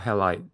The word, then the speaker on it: Halide: The second app is an iOS app called Halide. Yeah. It's called Halide. Oh, really? Okay, now I know how Yeah. to pronounce it.